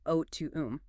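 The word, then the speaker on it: αὐτοῦ: The Greek word for his there is altar, pronounced o to.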